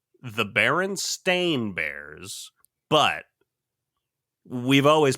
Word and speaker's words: Berenstain: wrong about I'm almost 100 positive it's the baron stain bears but we've always pronounced it Berenstein Bears because we're kids and